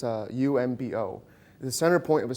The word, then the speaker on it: Oombo: it's the center point of a shield it's pronounced it's lit written it's a umbo the center point of a circular shield and